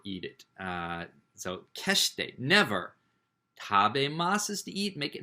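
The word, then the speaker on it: 食べます: Tabemasu is how it's pronounced. Tabemasu.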